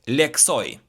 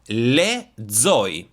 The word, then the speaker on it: lexoj: From leksoj, you need to pronounce it lezoj, lezoj. lezoj because letter x in Albanian is pronounced as z.